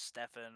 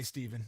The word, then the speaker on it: Stephen: Steven for everyone who says Stefan or. No, I say Steven. No, I had a buddy growing up who had his name spelled the same exact way as yours, and it was Steven.